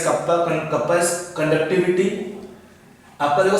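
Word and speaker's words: κ: This K kappa, we pronounce this K as kappa.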